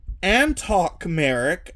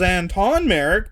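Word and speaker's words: Antoc Merrick: the hair is from Antok Merrick. I always thought it was Anton Merrick, but I found out today that I was saying the character's name wrong from Rogue One.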